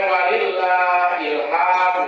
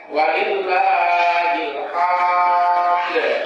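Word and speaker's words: ولله الحمد: itu di apa diqolqolahkan Jadi bukan Walillah HAM kan Apalagi huruf h-nya dipanjangkan walillahilhamd itu akan merubah makna dari takbir tersebut jadi jadi dari kalimat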